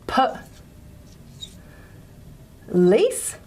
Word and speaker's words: police: always think of is a word like police so per lease and what we do is we just put a little stress there to show that the lease is a stressed syllable as in call the